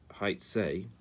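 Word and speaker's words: היצא: Now this word haitzei is pronounced hey yud tzadi aleph, but it's written Hey Vav Tzadi Aleph.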